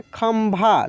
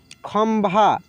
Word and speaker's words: खंभा: अब कहीं कहीं होता क्या है कि लिखा रहता है ऐसे बिंदी ही, लेकिन वहाँ पे आधा म का उच्चारण होता है, ठीक है, म का उच्चारण होता है।